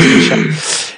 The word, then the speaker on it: Mysak: Parce que c'était Yann Michak, mais finalement, ça se prononce Michak.